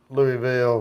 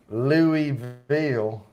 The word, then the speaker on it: Louisville: The Nulu district in Louisville. Louisville. I don't say Louisville. I can't do Louisville. It's just Louisville to me. I don't even have that extra syllable.